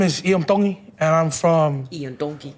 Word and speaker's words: Tongi: My name is Iam Tongi, and I'm from Ian Donkey Kahuku, Hawaii. Iam Dong. Tongi. You pronounce the T's like a D in the Tongan culture. Dong.